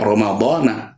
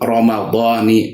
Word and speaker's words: Ramadhani: Jadi sekali lagi, karena terjadi idhofah maka tidak fathah lagi, tidak Ramadana tapi Ramadani hadhihi sana.